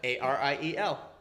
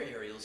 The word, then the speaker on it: Ariel: Ariel. Ariel. Congratulations. That's how you say it. in That's Spanish. exactly that's how you pronounce it in Hebrew, also. Ariel. Ariel. That's wild. Yeah, with the rolling R too.